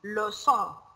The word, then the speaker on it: leçon: So it is wrong in the pronunciation. It should be leçon, leçon A, leçon A.